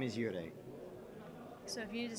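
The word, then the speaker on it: 幽霊: and his is pronounced Yurei.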